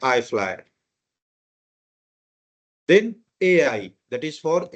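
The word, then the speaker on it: IFLY: 6E हमेशा नहीं बोलते हैं, that is also you can read eight 6E, बट आईटा code में इसका प्रोनाउंसिएशन है आई फ्लाई।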